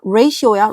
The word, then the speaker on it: ratio: 발음 잘하세요. ratio야, ratio. TO 아니야, ratio.